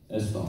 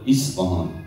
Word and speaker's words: Isfahan: It's spelled Esfahan, or some they call it Isfahan with I, I-S.